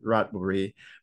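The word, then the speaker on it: Ratchaburi: gambling um Resort in rachaburi or also you can pronounce it radbury province which is in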